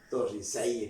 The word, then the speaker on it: Torricelli: Este experimento lo hizo Evangelista Torricelli, italiano, pero Torricelli, podemos decir nosotros, el español se pronuncia tal como se escribe.